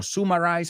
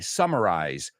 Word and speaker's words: summarize: pronunciation things in there Sumari or sumarize I don't remember what you said sum o m summarize sum up summary right so the